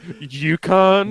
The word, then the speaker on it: Yukon: the UK. And for a second, I was just like, what? Is this motherfucker serious right now? No, It's pronounced Yukon.